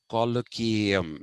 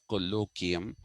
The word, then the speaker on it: colloquium: to understand the lipin colloquium or colloquium actually though indians say colloquium it is colloquium the lippin color km